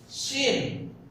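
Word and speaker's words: ش: এই শিনটা একটু দীর্ঘ করে লম্বা করে টানতে হবে, মাত করে করতে হবে শিন। এবং এটা উচ্চারণ করার সময় মুখটা ভরে আওয়াজটা হবে এবং মুখের ভিতরে যেন আওয়াজটা ভরে যায়। শিন শিন শিন।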